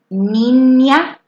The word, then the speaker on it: niña: And say, see that little symbol on top of the N there? That makes the nya sound. So can you say niña?